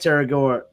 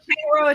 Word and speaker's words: Tangaroa: The problem here though is like you're at the Disneyland Hotel, so I'm at Terragoa with the Terrace. I always pronounce that wrong, but the counter service over there. Tangaroa Terrace.